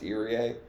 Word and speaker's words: Irie: His last name is actually pronounced Irie.